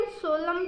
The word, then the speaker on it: solemn: और SOLEMN, तो उसे भी हम सोलम कहते हैं, मतलब एन का उच्चारण नहीं करते।